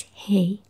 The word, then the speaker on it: hei: And hi is quite super close to hi, English word hi. So it's hey.